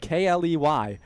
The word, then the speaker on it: Kley: It's spelled K L E Y and it's pronounced Kley.